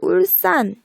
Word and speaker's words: 울산: 자, 울산 같은 경우 발음상으로는 분명히 울산 우리가 된소리 대기 일으켜서 발음을 하고 있어요. 그쵸? 자, 이 발음대로 적는다면 이렇게 SS로 적어야 될 것 같잖아요. 근데 이렇게 하지 않고 그냥 S 하나만 적어줍니다.